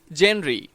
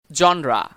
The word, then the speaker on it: genre: এই উচ্চারণটা সব সময় আমরা বলে থাকি জেনরি, কিন্তু এটা ভুল উচ্চারণ। Correct pronunciation genre.